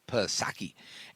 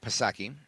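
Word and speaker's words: Psaki: her gen Circle back pasaki and Silent P of course Jen Pro Circle back pasaki silent P she was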